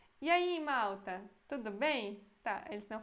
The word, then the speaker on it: Malta: Esse L é com a língua mais pra frente. Malta. E aqui, Malta, como se tivesse U, não L, na minha opinião.